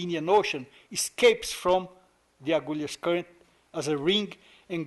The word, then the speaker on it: Agulhas: The Portuguese way of speaking, Agulhas. The English pronounce it Agulhas. But it's a Portuguese name, so I pronounce it the way the Portuguese used it.